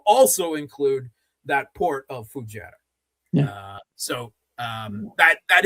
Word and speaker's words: Fujairah: Moreover, what they hit in the UAE is the the pipeline and the port of Fujairah. Am I Am I pronouncing that correctly? Fujairah. Fujairah.